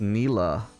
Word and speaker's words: Nilah: close to the turret oh it's Nila I didn't even know her she says her own name okay that really clears up her pronunciation good to know I'm probably still gonna call her Nyla though okay I think Lux